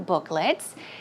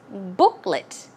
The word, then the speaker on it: booklet: these coupon or coupon booklets and the pronunciation is booklet it's not let although it's l-e-t it's pronounced as an l-i-t a short sound booklet booklet okay and